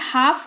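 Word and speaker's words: half: मतलब होता है शांति हाल्फ नहीं हाफ होगा जिसका मतलब होता है आधा अब ये ओयू का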